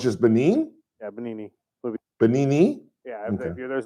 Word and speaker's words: Benigni: Benino, I believe is how it's pronounced. I could be wrong. I think the G is silent. I think it's Benino. I'm not sure.